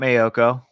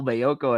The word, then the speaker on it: Maiocco: only one just because his name rhymes with hot coco you're obsessed with this whole mayoko and hot coco thing